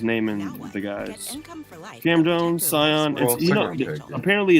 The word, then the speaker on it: Sion: Cam Jones, Sion. Apparently it's actually Sion James.